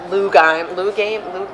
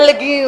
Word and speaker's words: legume: How do you pronounce that? A loogie? Like A lugim. Like when you hawk a loogie? Like a bean. Okay. A A legume. A legume. A legume. It's a French Sorry, a word.